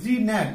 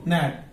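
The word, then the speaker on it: gnat: সুন্দর করে উচ্চারণ করি জি ন্যাট আসলে উচ্চারণটা কি হবে শুধু ন্যাট এন এর আগে যেটা সাইলেন্ট ন্যাট অর্থ হচ্ছে মশা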